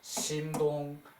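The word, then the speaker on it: 沈同: 요게 그 침자인데 그 성의 이름을 쓰일 때는 심이라고 읽어요. 그래서 심동 그 제나라 대부 심동이 이기 사문 사사로이 맹작게 물어서 말하기를 연나라를 가버려 그 정벌해도 됩니까?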